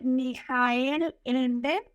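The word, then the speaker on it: Michael Ende: Bueno ahorita me acuerdo no sé si se pronuncia mijael ende porque es alemán pero se escribe como Michelle Michael en es uno de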